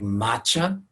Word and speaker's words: matcha: talking about things like matcha matcha is spelled MATC H a like match with an A at the end matcha is actually a